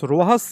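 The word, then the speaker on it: Rojas: প্লেয়ারটার নাম Mathias রোহাস, Spanish উচ্চারণে রোজাস নয় রোহাসি, কাছাকাছি বাংলার এরকম মনে হয় তাই রোহাস বলছি।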